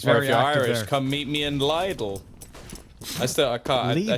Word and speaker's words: Lidl: that's just as bad little it's how you pronounce it it's what it's called you guys are weird it's what it's actually called yeah but everybody knows